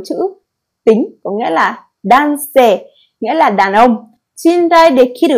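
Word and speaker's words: 男: Chữ nam này Onyumi đọc là dan hoặc nan. Kunyumi đọc là otoko.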